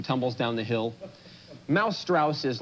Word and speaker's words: Strauss: Well, it rhymes this way. Mouse Strauss.